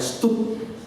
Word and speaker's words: Studd: Dan akhirnya dia tahu Charles Thomas Studd, bacanya Studd, ya.